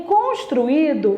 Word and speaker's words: construído: con tru I do esse I ele ficou separado olhem bem esse i é uma vogal uma vogal tônica tem outra vogal aqui eu tenho duas vogais em sílabas separadas Esse i é a segunda vogal do iato é por isso que ela é acentuada Então veja bem construído